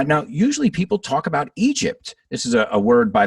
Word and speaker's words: Egypt: usually people talk about egypt this is a word by the way a lot of my students mispronounce they say egypt but careful guys it's egypt egypt and uh yeah you've